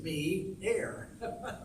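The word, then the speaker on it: Meio: They don't know how to pronounce M-E-I-O, geez, it does say me-air.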